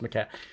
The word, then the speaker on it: Maquette: on the playstation called maquette because i think it's maquette m-a-q-u-e-t-t-e thank you pronounced mcat but the idea is